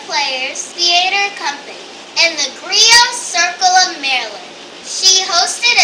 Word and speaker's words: griot: It's spelled G-R-I-O-T, but it's pronounced griot. The T is silent.